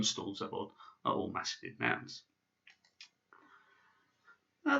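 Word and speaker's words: завод: And the third word, which might be new to you, is pronounced zavod. So we have dom, stol, zavod.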